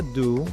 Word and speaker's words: due: La segunda palabra se pronuncia do porque la U se pronuncia U, la E es muda.